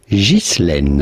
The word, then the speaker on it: Ghislaine: Now in French, this is normally pronounced Ghislaine.